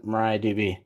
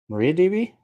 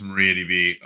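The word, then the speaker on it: MariaDB: you know mongod DB I should have done Mariah DB and correct me like I've always said Mariah DB but you pronounced it differently Maria DB I think it is Maria DB um Mariah Carey would take issue but uh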